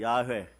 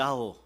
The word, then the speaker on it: 야훼: 야훼, 발음을 잘못해갖고 따라해보세요. 야호.